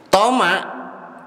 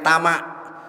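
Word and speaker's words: طمع: Toma, kalau kita bahasanya sering dibacanya tamak, tapi sebenarnya bahasa Arabnya dari huruf to di fathah to.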